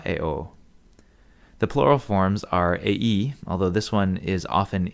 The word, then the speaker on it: ei: the nominative, the genitive eius for all three genders, and that's a two-syllable word, eius, and the dative ei in all genders, and that's two syllables too, although sometimes this word is monosyllabic, ei.